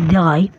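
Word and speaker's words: drei: দেখুন, 0কে জার্মানে বলা হয় নুল, 1কে বলা হয় আইন্স, 2কে বলা হয় সোয়াই, 3কে বলা হয় দ্রাই, 4কে বলা হয় ফিয়া, 5কে বলা হয় ফুনফ,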